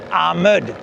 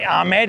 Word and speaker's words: Amed: Oh, by the way, Amed is actually supposed to be pronounced Amed, but we foreigners say Amed, and that's just sort of stuck.